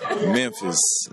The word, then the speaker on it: Memphis: Everybody from the city say it a different way, but you know, it's Memphis. Memphis. Memphis. Yeah, like Memphis. So you do pronounce the M. Yeah, Mem.